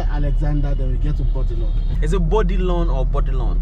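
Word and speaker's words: Bourdillon: After Alexander, then we get to Bodilon. Is it Bodilon or Bodilon? Bodilon. Like just like body. Bodilon, yeah. It's Bodilon. BODILLION. Bodilon. Bodilon. Oh. Bodilon, Otilon. LLON, yes, sir. Bodilon. It rhymes with Otilon.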